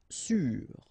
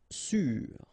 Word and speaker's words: sûr: Sûr. Sûr. Okay, even if you've got this accent circumflex, you don't pronounce it, so you get the same pronunciation, sûr and sûr.